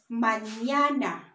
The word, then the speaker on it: mañana: So this, when you see this letter, it's gonna make the ñ sound. So for example, the word mañana. So it's M, A, N, A, N, A. So it's mañana.